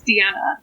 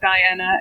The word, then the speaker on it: Diana: So my full name is Deanna, and it's spelled Diana. And Deanna, as you know, or Diana as you pronounce it in England and America, is the moon goddess.